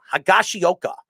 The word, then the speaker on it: Higashioka: I always, how do you pronounce it? Higashioka.